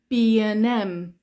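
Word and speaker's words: B&M: B and M now I've already told you before that with b and Q we just say b um Q so for this one how do you think we pronounce this one it's the same thing isn't it okay okay it's going to be B B M B and M B N M B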